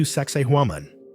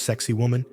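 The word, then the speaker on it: Sacsayhuamán: Welcome to Saxaman. No, it's not pronounced sexy woman, despite what every tourist t-shirt in Cusco will tell you.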